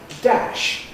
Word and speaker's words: dash: You would sort of predict therefore that it would affect words like dash or cash, which have a voiceless fricative. But for reasons nobody really understands this sound change failed before sh before the power. So we still have a short in dash but cash and mash stash.